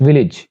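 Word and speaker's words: village: उसके बाद इसको विलेज पढ़ते हैं सारे, इट्स नॉट विलेज, इट्स विलेज, यानी शॉर्ट आई की साउंड आएगी, इट्स विलेज।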